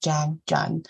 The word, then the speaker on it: Trang Tran: My name is Trang Tran, or the Vietnamese pronunciation is Giang Jun.